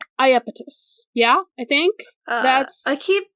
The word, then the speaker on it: Iapetus: The fact that sometimes his name is spelled with a J at the front does not help, because it's not pronounced differently. It's still said the same.